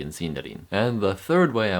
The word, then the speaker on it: Sindarin: It sounds much more like the letter I you'd find in the word machine rather than in the word in.